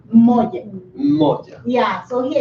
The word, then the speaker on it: moja: How do you pronounce the moja?